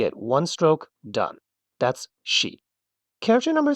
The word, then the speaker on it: し: Now the sound here is a little different. It's she, like the word she.